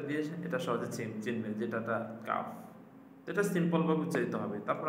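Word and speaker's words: ق: calf calf calf এটা পাতলা হবে আরেকটা আছে কিন্তু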